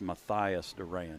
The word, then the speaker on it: Mathias Duran: number 16 I apologize Miss uh pronounced his name it's Mathias Duran is that correct Mike